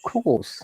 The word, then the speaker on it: course: A long sound, R is silent. Of course.